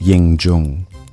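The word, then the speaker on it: Ying Zheng: His name was Ying Jang, pronounced Ying Jung, born in 259 BCE.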